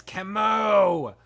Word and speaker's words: Kimu: no see K Kimu it's Kimu Kimu I said it wrong the first time yeah yeah